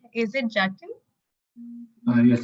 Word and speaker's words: Jatin: Uh, am I pronouncing your name right? Is it Jatin? Yes, it's Jatin.